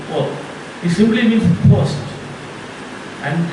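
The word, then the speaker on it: hôtes: In French language it is pronounced hôte.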